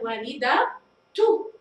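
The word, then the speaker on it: والدةُ: ننتقل إلى والدة، نضع التاء المربوطة الآن والدة تو، عند وضع التاء هنا نطقت تاء والدة تو، تمام؟ إذا نطقت التاء فهي هنا تاء مربوطة، وعند وضع الضمة أصبحت التاء واضحة بصوتها وكما هي أمامنا.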